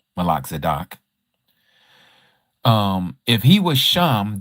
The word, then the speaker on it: Melchizedek: Now, if Melchizedek, as WPS would like for me to say it, Malak Zadok, um if he was